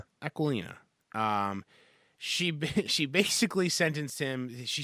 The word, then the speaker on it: Aquilina: Aquilina.